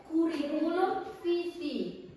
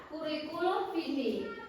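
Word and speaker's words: curriculum vitae: Kuriku atau dalam bahasa Inggrisnya disebut kurikulum vitae. Bacanya gitu ya, kurikulum vitae.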